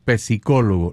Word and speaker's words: psicólogo: No se dice psicólogo, la P es muda.